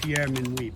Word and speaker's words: Pierre Minuit: Well, his name was actually pronounced Pierre Minuit, but most people know him by Peter Minuit, because that was the Dutch pronunciation of his name.